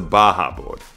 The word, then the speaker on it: Bajaboard: So we're Bajaboard, the B-A-J-A, pronounced as the H for the Mexican Baja Peninsula.